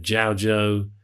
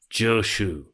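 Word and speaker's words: 趙州: The Chinese name Zhaozhou, the sort of Japanese pronunciation of his name, Joshu, is how it's come to many of us in the West, is sort of via Japan.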